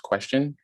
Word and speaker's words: QSTN: to you guys qstn which is pronounced question and it's a blockchain